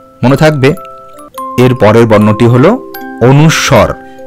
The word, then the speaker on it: অনুস্বর: থাকবে এরপরের বর্ণটি হলো অনুস্বর এগুলিকে অনেক সময় অনুস্কার বা অনেক কিছু বলা হয়ে থাকে সেগুলি সবই ভুল উচ্চারণ তুমি সঠিক ভাবে উচ্চারণ করবে অনুস্বর মনে থাকবে তো এরপরে আমাদের